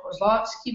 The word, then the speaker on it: Kozlowski: Aqui, professora, com vocês hoje, professora Cláudia Kozlowski. Vê se eu acertei a pronúncia do seu nome, Cláudia. Acertou. Perfeito.